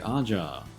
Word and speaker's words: Aja: Okay, last, let's go against the Great Aja. And before anyone says that is a J like Ja, according to the Japanese pronunciations, that's what I'm going to go with.